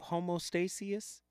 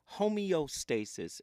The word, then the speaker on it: homeostasis: the other day Relationship homostasis homostasis homeostasis is the correct pronunciation homeostasis remember that if you